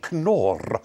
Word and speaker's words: Knorr: And they said, no, it's made by a company called Knorr, spelled with a K, Knorr, and it's a sort of comminuted noodle substance,